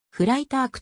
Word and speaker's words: Freitag: に今後では freitag と具を濁らせて発音しているが実際ドイツ語ではフライタークとなるドイツものフラ